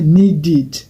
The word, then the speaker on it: needed: C'est terminé par D. Alors, ED doit se lire id. Ça fait needed.